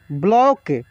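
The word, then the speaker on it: block: में पढ़ेंगे ब्लड ब्लॉक ब्लॉक ये क्या है केवल चंद्र है इसका उच्चारण औ के रूप में होता है ठीक है ब्लॉक लेकिन पूरा ओ नहीं होता है ब्लॉक ऐसे हम लोग बोलते हैं उसको भी मैं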